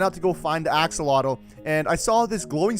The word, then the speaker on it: axolotl: these days a hatchet how do you actually pronounce this axle Axolotl axolotl and on day two I also found